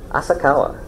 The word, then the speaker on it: Asakawa: I got around to saying, if people look like they're gonna like not have a problem with saying my name, I'll say it's like Kawasaki sideways, and they know Kawasaki, so they go, oh, okay, well that's easy.